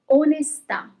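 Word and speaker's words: onestà: Okay, so there is a little bit more emphasis on the last letter where there is the accent.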